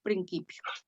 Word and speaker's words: principio: leer principio acuérdense que la letra c siempre se pronuncia como una k entonces leemos principio y la letra y